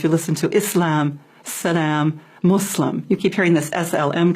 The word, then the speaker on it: Muslim: does the practice Yeah so a Muslim not a mlim or we have so many different pronunciations but the most correct is Islam and Muslim muslim okay we're and